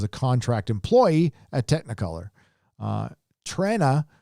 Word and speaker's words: Trenna: Trenna is pronounced Tren, like Tren Guthridge, for $5.